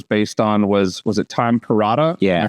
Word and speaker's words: Perrotta: So the book that the first season of The Leftovers was based on was it Tom Perrotta? Yeah. Am I pronouncing that right or remembering that right?